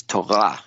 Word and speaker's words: Torah: heard that either well in Hebrew the accent is on the last syllable so if you're ever reading Hebrew it is Taha you know it store